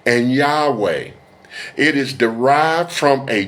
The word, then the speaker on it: Yahweh: seeking to understand how Yahweh is pronounced. Furthermore, the pronunciation Yahwh or Yahwa does not carry any meaning in Hebrew.